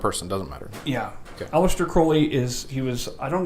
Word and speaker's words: Crowley: aleister crowley he liked his name was actually crawley but he liked it pronounced crowley because it was like a uh parody of holy oh is there a